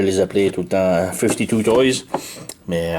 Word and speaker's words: 52Toys: Donc c'est une autre figurine de 5-2 Toys, communément comme je les appelais tout le temps 52 Toys, mais à 52 Toys. Et ils m'ont écrit me dire que ça se prononce 5-2 Toys.